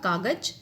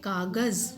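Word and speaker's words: कागज़: अगर हम इसमें नुक्ता नहीं लगाएंगे तो ये होगा कागज, और अगर हमने इसमें नुक्ता लगाया है तो एक विशेष लहर के साथ, वाइब्रेशन के साथ हम इसका उच्चारण करेंगे कागज।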